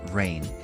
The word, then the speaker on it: reign: at the highlighted word rain this word is pronounced the same as rain as in water falling from the sky as a verb it